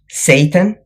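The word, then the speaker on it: seitan: textured vegetable protein, TVP, Satan, importantly, not spelled like the the alternative name for Lucifer, but spelled S E I T A N, like the Japanese word Satan and protein powder.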